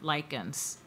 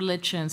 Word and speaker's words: lichens: carvey asks us to consider lichens or lichens i saw i heard that they were pronounced both ways i will close with